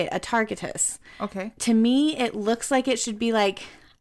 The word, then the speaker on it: Atargatis: To understand Atargatis, we have to go back, which, by the